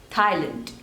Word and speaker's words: Thailand: Tajikistan Tajikistan Tajikistan Tajikistan Tajikistan Tajikistan next is Thailand Thailand there are two syllables Thai learned and the stress is on the first one Thai Thailand Thailand Thailand next is turkey turkey there are